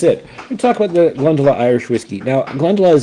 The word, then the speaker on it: Glendalough: Uh this has many different pronunciations, but I've heard the uh master distiller say Glendela.